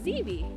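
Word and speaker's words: ziibi: with intimate tig so the ojibwe word for river is xevi and it's spelled z-i-i-v-i and depending on where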